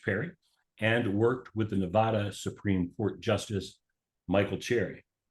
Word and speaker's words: Nevada: you are in Northern Nevada Nevada yes Nevada you gota say it right only those that aren't from Nevada say it incorrectly right correct correct we get